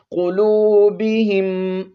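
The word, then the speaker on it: قلوبهم: کے ساتھ ملانا ہے، قاف کو موٹا پڑھتے ہوئے، واو پر 1 الف کی مقدار مد کرتے ہوئے، قلوبہم، با زیر بی، ہا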